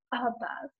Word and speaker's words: above: The other syllable is unstressed, and that's when you hear the sound, like when we say the word above. We don't say the word above, we say above, okay?